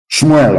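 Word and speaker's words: שמואל: Shmuel, of course, correct pronunciation.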